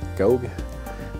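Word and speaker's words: Gough: written by Julian go I think his name is pronounced go uh his uh I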